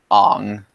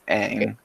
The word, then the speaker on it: Aang: They literally pronounce Aang's name Ong. That's just wrong. Why would he pronounce it Ong when in the show it You're clearly says Aang?